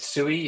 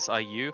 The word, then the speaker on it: Sui: I also wasn't sure how to pronounce it just before I like made sure it was like sui instead of SIU, just so I I I just referred to it like that just to avoid mispronouncing it.